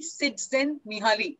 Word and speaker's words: Csikszentmihalyi: So there's a book called Flow, Mihaly Csikszentmihalyi. If I'm not mistaken, that's how the name is pronounced.